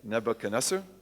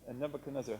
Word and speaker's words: Nebuchadnezzar: Y un rey grande de Irak, otra vez, que es Nebuchadnezzar.